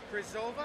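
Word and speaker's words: Křížová: Krizova, I think is how to pronounce it, scored a power play goal.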